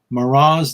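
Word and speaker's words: Murat: And I took a little bit of French in college, not all that much, but I do know that if it's M-U-R-A-T, you don't pronounce the T.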